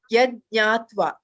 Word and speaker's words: यज्ञात्वा: Yeah, ja is silent there. Yajñātva. Yajñātva. That nya comes in.